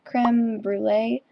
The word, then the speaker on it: Cr3meBrulee: It's actually creme brulee, and I go by creme, not cream, because those are two completely different things.